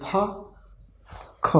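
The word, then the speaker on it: Fach: Here fa, it is fa, k.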